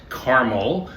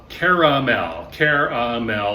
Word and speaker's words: caramel: It's not Carmel. Carmel is a city in California or in Westchester County in New York. It is a mountain in the Middle East. Caramel, 3 syllables.